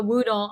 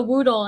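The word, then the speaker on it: Whoodle: yes you can also follow follow Boomer the Woodle on Instagram so he keeps quite busy so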